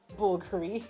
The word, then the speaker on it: Bulgari: Yes, that is how you pronounce the word, Bulgari.